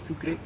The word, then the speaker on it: Sucre: are going to discover sucre in French it is pronounced "Sucre" And do you know what Sucre means?